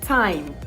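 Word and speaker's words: thyme: your meals when cooking do not be tempted by your th at the beginning it's time time right the same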